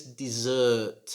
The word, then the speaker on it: dessert: the second one is dessert it's a longer sound dessert like i love to eat dessert after the main course what's your favorite dessert number 16.